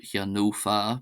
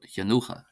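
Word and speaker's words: cheannófá: In some dialects, this F gets pronounced as an F, but also gets pronounced generally as a H. So it's not Hyanofa, but Hyanocha, Hyanocha, Hyanocha.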